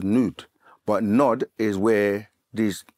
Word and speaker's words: Nod: Land of Nod um in the language is actually pronounced as nude but nod is where